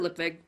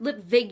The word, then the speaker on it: Lipwig: lipwig it's pronounced lit vague you he-man he bowed a V not a W up vegan mr.